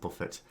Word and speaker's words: Buffett: American Warren Buffet order they pronounce it buffett and once said the